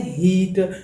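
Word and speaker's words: heat: ठीक है दोस्तों, यहाँ पर इसका प्रोनाउंसिएशन आप लोगों ने किस तरह करना है, हीट। ठीक है दोस्तों, कभी इसका प्रोनाउंसिएशन आप कभी हेट ना करना, क्योंकि ये फिर गलत हो जाएगा।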